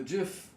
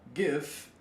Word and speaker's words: GIF: that are like, no, it's got to be a hard G. They usually say, yeah, GIF, because it's supposed to be like gift. Like if you added a T to it, then it would be gift, and that's already a word.